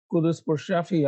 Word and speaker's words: Quddus Pourshafie: from the trenches so today we have uh kudus for shafi and i hope i pronounced your name correctly plus perfect from future